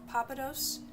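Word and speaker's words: Pappadeaux: There's a Texas restaurant called Papados. That's how it's pronounced, but it's spelled with an X.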